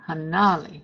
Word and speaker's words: hanali: use the word hanali with the emphasis on the na the the uh syllable that has the na if you want to talk about the number six then you put more emphasis on that first syllable that has the first inali hanali it's that important people